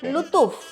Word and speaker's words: லுத்தூஃப்: எக்ஸாக்டா எப்படி ப்ரொனவுன்ஸ் பண்ணுவோம்? லுத்தூஃப்.